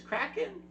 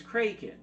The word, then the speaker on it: Kraken: The argument between Pintel and Righetti over the proper pronunciation of the monster's name comes after the writers, who intended for it to be pronounced as Kraken, first heard Kevin R. McNally pronounce it as Kraken.